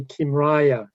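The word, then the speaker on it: Kymriah: downloaded in the meantime regarding pronunciation i say kimraya but the uh the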